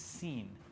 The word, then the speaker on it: Sin: Sheen if it's on the left it's it's seen not to be confused with not to be